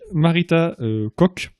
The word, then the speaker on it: Marita Koch: va froid c'est toute la terre voilà et marita koch ça se prononce comme ça sur des oeufs ils étaient